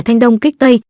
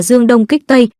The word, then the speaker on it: Thanh Đông Kích Tây: Kế thứ 6 trong 36 kế tên là Thanh Đông Kích Tây, người ta thường đọc là Dương Đông Kích Tây, nghĩa là giả vờ